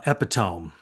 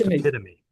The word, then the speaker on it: epitome: No, I had the same problem with the word uh epiome, which I since learned is is pronounced epitome.